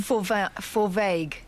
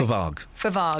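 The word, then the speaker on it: Fovargue: Forvague. OK. Hang on, is that right? Forvague.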